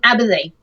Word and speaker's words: Aberthy: It's mainly set around a city-state called Aberthy, which is with the weird Welsh pronunciation.